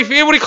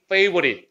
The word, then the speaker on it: favorite: 아, 그리고 여기 favorite을 P로 발음하는 사람 없겠죠? 이거 아까 P로 발음하면 It is my favorite color야. Favorite. 그지? F 사운드니까. 응? 윗니빨이 무조건 아닌 사람 다 해야 됩니다. 페이보릿 이렇게 발음해야 돼요.